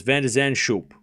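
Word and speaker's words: Van de Zandschulp: The C is silent. Okay. So it's Van der Zandschulp. Schulp.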